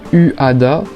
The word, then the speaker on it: Uada: Je me rappelle encore quand j'avais découvert le groupe Uada, je vais le prononcer à la française dans le clip Cult